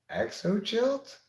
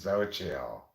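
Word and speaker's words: Xochitl: name check and said your name's EXO chilt and she said it's pronounced so chill I never seen any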